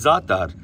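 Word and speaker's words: za'atar: uh zifran or zithren zifren or zithren it's zatar but it's really potent they put it in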